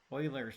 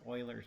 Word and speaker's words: Euler: number e is called euler's number okay and the way it's spelled it looks like it should be said euler but uh it's uh pronounced euler's number okay and it has